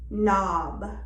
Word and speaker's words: knob: H is silent when it follows the consonant G, ghost, or K, knob, or R, rhino.